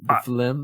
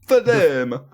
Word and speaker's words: phloem: The phlegm. I'm not confident with my pronunciation either. Phloem.